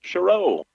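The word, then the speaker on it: Sherrow: foul going against Faith shro Faith's uh last name spelled s h e r r o w stress on the second syllable Cho kind of fun to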